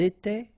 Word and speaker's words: étaient: étions, vous étiez, ils étaient, elles étaient. Alright, so exactly the same rule. Remember, final S, here, here, final T, and then here, and T, you don't pronounce them.